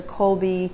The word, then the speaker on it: Kolbi: For a prepaid card, I recommend Colby, which is spelled Kolbi.